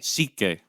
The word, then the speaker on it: Sikhye: Yeah, so Shike? I'm happy Is that that what I it's called? found it, and now we get to try it. And Wait, how do you pronounce it again? Shike. Sikhye.